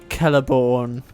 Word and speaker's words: Celeborn: You get to guess as to who wins, but I think he starts with C and rhymes with Telethorn. Yes, it is indeed Celeborn.